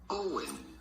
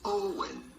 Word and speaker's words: Eoin: Not like it's spelled, but simply Owen. Ian. Owen.